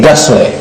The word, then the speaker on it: Gusler: Try again one more time. Say Gusler. Gusler. Gusler, yes.